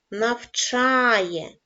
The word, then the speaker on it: навчає: падає на склад вчить навчає наголос падає на голосний звук а чудова робота наступне завдання